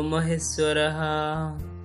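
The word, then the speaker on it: মহেশ্বরঃ: এর উচ্চারণটা আমরা একবারে এইভাবে করতে পারি, গুরু ব্রহ্মা, গুরু বিষ্ণু, গুরু দেব মহেশ্বরহা, গুরু রেব পরম ব্রহ্ম, তসময় শ্রী গুরুবে নমঃ।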